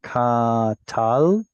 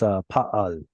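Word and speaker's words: פעל: Because lamed is the letter that represents the third root letter in katal. No, I'm saying it wrong. It's pa'al. Pa'al.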